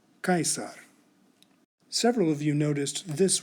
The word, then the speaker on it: Caesar: In my next video, I'll tell you that the C always sounds like a K in Latin. But today we've learned that we should pronounce the letters A-E exactly as written. Caesar, Caesar.